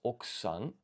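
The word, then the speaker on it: 奥さん: So wife honorific, that's oksan. This U seems to be kind of silent here when I was checking the pronunciation audio.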